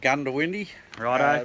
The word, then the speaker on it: Goondiwindi: It's pronounced Goondiwindi by the local Aboriginals.